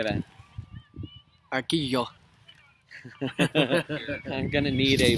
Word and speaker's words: Arguello: Arquillo. I'm going to need a pronunciation guide on that one.